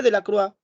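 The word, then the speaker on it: Delacroix: visión de la croix bueno se pronuncia de la croix pero se escribe de la creex por si acaso saliente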